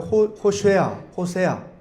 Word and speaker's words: 호세아: 호세아라고 하는 그 이름은 히브리어로 말 그대로 호세아 이렇게 발음을 합니다.